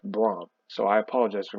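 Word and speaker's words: Brohm: I mispronounced this name I thought it was Jeff boredom it's Jeff Braum so I apologize for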